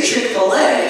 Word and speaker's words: Chick-fil-A: was talking about because she kept calling it Chick-fil. And I was trying to piece it together, and finally I caught it. I said, do you mean to say Chick-fil-A?